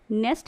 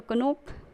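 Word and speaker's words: knock: Next, अगर हम इसकी स्पेलिंग देखें KNOC, यानी कि अगर हमसे पढ़ें तो कनोक, अगर इसकी स्पेलिंग को देखें, बट कनोक इज़ रॉन्ग प्रोनाउंसिएशन, हम इसे पढ़ेंगे नोक।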